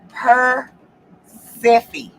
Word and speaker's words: Persephone: The last E is a long E. The rest you did right. Okay, so like Persephone. Does that help? Yes. Persephone.